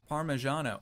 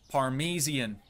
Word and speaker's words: Parmesan: was this one again parmesano oh dude this parmesian that's that parmesian cheese I know it's pronounced parmesan you guys know I